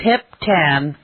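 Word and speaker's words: Hiep Tan: couldn't do it to properly tell you it's hip tan supermarket and that is spelled h i e p t a NH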